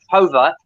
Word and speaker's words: Jover: His surname is spelled Jover, but I think he might be Spanish, so it might be pronounced Hover.